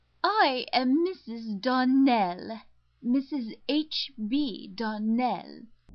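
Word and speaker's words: Donnell: Clarissa Myra told me that you pronounced our name Darnell. Now, Miss Shirley, the correct pronunciation of our name is Darnell. Accent on the last syllable.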